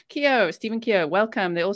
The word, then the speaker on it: Keogh: best there like yo don't say the gh kyo stephen kia welcome they